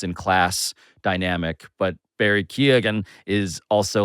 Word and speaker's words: Keoghan: I thought it was Keegan, but No, maybe I think it's he's saying it right. Say yours again. Keoghan. That's right.